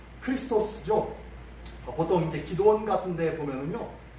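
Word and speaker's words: Χριστός: 했는데요 한번 그리스도가 한번 봅시다 그리스도 그리스도라 자 크리스토스 보통 이제 기도원 같은데 보면은요 p x 이렇게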